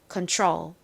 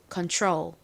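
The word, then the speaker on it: control: 감이 된듯한 느낌이납니다 컨트롤 컨트롤 이렇게요 그 이유는의 바로 뒤에 R이 나왔기 때문입니다 이렇게 t 뒤에 R 나오면의 발음이 살짝 변하게 됩니다 그래서 완전히 티 소리가 아니라 살짝 치의 느낌이 들어간 소리가 나게 됩니다 예를 들어서 단어 중에서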